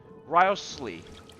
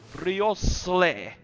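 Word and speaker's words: Wriothesley: his name is ryosley that is how we pronounce rously not Rio slay not ryota slay cryosly in fact yeah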